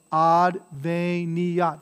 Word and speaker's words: adveniat: tuum, adveniat regnum tuum, so adveniat, this is four syllables, right?